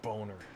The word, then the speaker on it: Boehner: villains joan john boner i know how to pronounce german you dick it's not boehner it's boner don't try to pretend